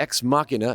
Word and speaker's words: Ex Machina: Alchemist here to talk to you bout the ex machina and yes that's how you pronounce that studio monitors so why am i